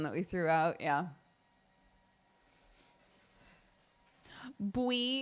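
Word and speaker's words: buí: Bui is how you pronounce yellow in Irish, and that's fun.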